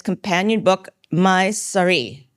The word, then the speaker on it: sari: its companion book my sari am I pronouncing that right my sorry like the like the clothing my sorry Gita is